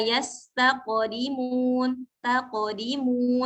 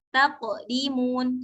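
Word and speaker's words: يستقدمون: Misalnya la yastaqdimun, bukan taqdimun. Kalau taqdimun itu seperti ada jeda di sana. Nah, yang betul atau yang bacaannya benar itu adalah ketika tidak ada jeda. Jadi membacanya itu mengalir dengan natural saja. Yastaqdimun.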